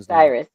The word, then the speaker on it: Osiris: Uh is it or I'm sorry it's not Otis. What? How do you say this gentleman? Osiris.